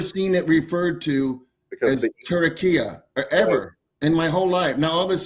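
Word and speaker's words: Türkiye: They spell it different. It's Turikye.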